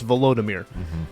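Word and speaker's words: Volodymyr: you say his name it's not Vladimir it's volodimir which I guess is uh similar but not the same so um yeah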